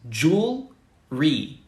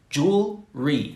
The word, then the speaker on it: jewelry: perfect as well right jewelry that's two syllables jewel re that's it jewel re and that's that's all